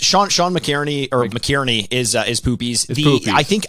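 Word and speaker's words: McInerney: I'm assuming, is Sean is it McGhehey? Is that how you pronounce the name? Is that Poopies? It's Sean McKierney, or McKierney is Poopies.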